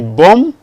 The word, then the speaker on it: bomb: The B is not pronounced. The womb, the bomb.